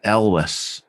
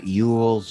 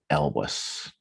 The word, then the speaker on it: Elwes: last name it's uh elvis ellis alwes l wes yeah elvis okay uh it's not yules or eels or anything like that it's it's it's definitely pronounced um elvis oh okay all right